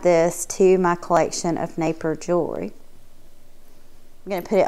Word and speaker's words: Napier: the mark on it i don't know if it's pronounced naper or napper or napier i believe from just listening to other people on youtube that naper is the way to say it i've had been saying